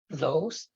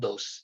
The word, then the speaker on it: those: Kung di mo masabi yung TH, ginawa mong dose.